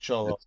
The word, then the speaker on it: Xolo: Okay, Cholo. Yeah, because XOLO, but Cholo is pronounced Cholo.